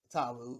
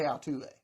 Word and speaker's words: Altuve: and i knew and i knew i said it wrong when i came out the first time and i still repeated it but jose altuve alex bregman you know